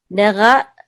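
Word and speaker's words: נגע: Nega la nega. Yeah, the deeper you can get the ayin, the better, especially when you're starting. Nega la nega. Yep. But the accent is on ne.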